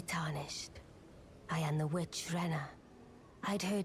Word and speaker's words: Renna: I am the witch Renna. I'd heard Renna, that's right. That's how you pronounce me.